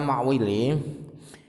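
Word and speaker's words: المعولي: Dan kata-kata ma'wili itu bacanya adalah mim dibaca fathah, ain sukun tanpa titik itu, dan waw dibaca fathah.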